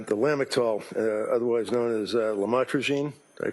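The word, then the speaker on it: lamotrigine: about the u the lamel otherwise known as lamatrogene. Did I pronounce that right? Lamotrograene.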